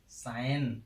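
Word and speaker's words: sign: नियम नंबर 3 क्या कहता है, जब किसी वर्ड में जी के तुरंत बाद एन आता है तो जी का उच्चारण नहीं किया जाता है।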